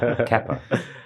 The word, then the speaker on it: Kepa: And as we all know, they pronounce it Kepa.